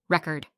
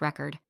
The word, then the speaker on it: record: sound strange for example record noun a music record versus record verb to record something present noun a gift